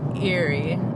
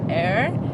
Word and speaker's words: Eyre: I want to pronounce it Lake Erie, but I'm pretty sure Australians call it Lake Eyre, and that's up next.